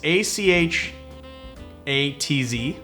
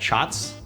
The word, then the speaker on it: Achatz: a grant icon Rockettes name that's how you spell its a CH ATZ and I said shots granted shots and it's almost like you pronounce